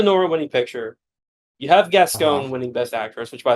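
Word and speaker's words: Gascón: winning picture you have gasone winning best actress which by the way pronounce her name correctly it's gasone that g gone oh is it not gone it's gasone you said gasone oh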